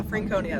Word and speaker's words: Franconia: our what's the state park Franconia Franconia yeah Franconia that's how they pronounced it um so that's where we're heading